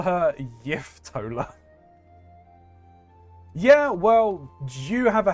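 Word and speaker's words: Y'shtola: to bed uh I've never heard anyone say Yos TOA like that uh I I'll say it however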